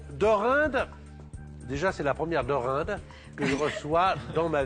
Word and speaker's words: Dorinde: Alors deinde déjà c'est la première dorinde que je reçois dans ma vie.